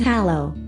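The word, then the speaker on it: halló: However, Icelanders do appreciate foreigners learning a few useful phrases while visiting, including hello, pronounced hallo, welcome, pronounced velkomin, and yes and no, pronounced ja and nay respectively.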